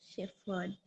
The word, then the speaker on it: shepherd: shepher shepher shepher shepher it's not F Shepherd Sheard okay so uh treasure